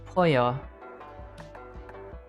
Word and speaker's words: pollo: With double L is pronounced as a Y. Oh shit, you're right. Like in Pollo.